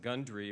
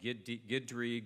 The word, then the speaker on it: Gundry: pronounce my last name it's perfectly phonetic it's only two syllables but it's frequently mispronounced it's pronounced gundry but I've get called Guidry Grundy Gundy you know and